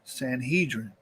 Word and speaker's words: Sanhedrin: By Roman times, an important political body of the land was known by a Greek name, Sanhedrin, or in Hebrew pronunciation, Sanhedrin.